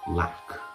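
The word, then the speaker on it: Lack: storage it's basically the ikea lock and that's how you say it like he's got some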